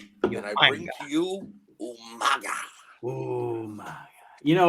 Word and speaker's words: Umaga: And then you had William Regal, who could never pronounce his name correctly. He was Umaga. Umanga.